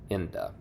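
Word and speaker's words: Enda: a little bit uh that's spelled e n d a Inda on many a summer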